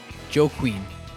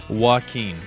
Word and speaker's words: Joaquin: try to pronounce it yes how do you pronounce the name of this hurricane Joe Queen Jacques win joke when Joan I would pronounce it Jacques